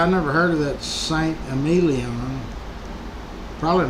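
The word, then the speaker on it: Saint-Émilion: St. Amelon. Probably not even pronouncing it right.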